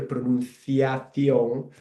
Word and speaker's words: pronunciación: for my purpose here, pronunciación. You can see there that the C sound when I pronounce it, it sounds a bit like the TH in English, like thunder.